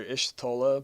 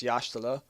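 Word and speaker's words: Y'shtola: so yashal which I used to call her ish TOA but I remember I've learned that Y in makot is y a h so you pronounce it yala so it's yashal so yashal thancred being a little pimp as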